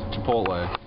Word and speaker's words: Chipotle: we're going to chipotle is that how you pronounce that yes chipotle we're going to chipotle we decided well you